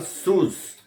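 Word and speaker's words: σῦς: No grego antigo se pronunciava sus.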